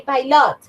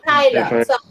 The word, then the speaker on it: pilot: two syllables okay and the stress goes in the first one pilot you don't say pilot yeah you say pilot the next Lumberjack Lumberjack